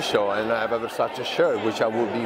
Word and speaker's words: Versace: and I have a Versace shirt, which I will be wearing next time. So can you tell us how to pronounce correctly? Because usually American, we say Versace. Versace, right.